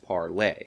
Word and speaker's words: Parler: videos and let her know that it's actually pronounced parlay now with all that out of the way